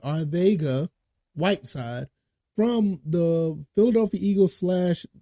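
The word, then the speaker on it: Arcega: just signed JJ arga that's the way it's pronounce it arga whide from the Philadelphia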